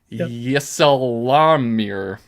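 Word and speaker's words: ysalamir: oh yle they're called it's so hard to pronounce YSA a l a m i r yesir so there's these like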